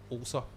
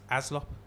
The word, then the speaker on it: Allsop: But the way that this Scouser pronounced, the way that this Scouser, Kemi, pronounced my co-defendant's name when I spoke to her, when we used to get along, was Aslop.